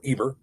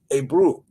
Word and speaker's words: Eber: It's not a bear or ebear or eber. It's a brew.